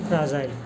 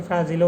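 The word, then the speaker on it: fragile: এটা বুঝতে পারছেন তারপরে চার নাম্বার শব্দটা হচ্ছে ফ্রাজাইল হচ্ছে তারপরে এটা অনেক এটা অনেক সময় ফ্রাজিলে উচ্চারণ হয় তবে এ উচ্চারণটা সবচাইতে শুদ্ধ বেশি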